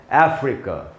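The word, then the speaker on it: Africa: तो कैसे पढ़ना है दोस्तों, इसके भी एंड में ए है, तो ए से आ नहीं अ बनता है, मैं आपको कई बार बता चुका हूँ, इसलिए इसका उच्चारण होगा अफ्रीका। ए जो है दोस्तों, इसमें अफ्रीका में जो ए है वहाँ पर आपको ज़्यादा रुकना है, वहीं पर स्ट्रेस है।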